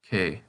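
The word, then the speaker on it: け: Here's another kana with a picture representation, and the pronunciation comes from the middle of the word skate. This kana is pronounced kei.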